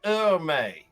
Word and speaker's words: Ermay: Now, you keep mispronouncing my name, and it's impolite to correct a lady, but Yes. my name is pronounced Ermay. Yes. It's Emery, Ermay.